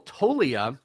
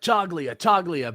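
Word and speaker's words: Toglia: know uh another rookie michael tolia silent g i talked about this in the uh actually in the afl because it was one of those things where everyone was like jugglia but the announcers were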